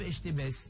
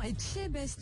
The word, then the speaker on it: Etchebest: Non, Philippe Estébest. non, Etchebest. Etchebest.